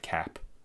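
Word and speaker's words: Koepp: It's K O E P, but I have heard Spielberg talk about him many times and he's always said David Cap.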